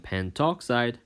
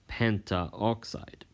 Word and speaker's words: pentoxide: So example, N2O5 is dinitrogen pentoxide, not dinitrogen pentaoxide.